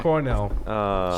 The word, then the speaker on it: Cornell: Cornell. Rhymes with Bucknell.